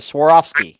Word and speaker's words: Swarovski: those are building Swarovski everybody misses pronounced that Swarovski is how that's pronounced so I'm pronouncing that